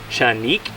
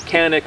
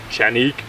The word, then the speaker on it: Canik: this is the chanic actually it's Turkish is pronounced chanik uh but chanic is about as close as I'm going to get consistently not canic not Sanic it's chanic or chenik uh this is the tp9 sa it's the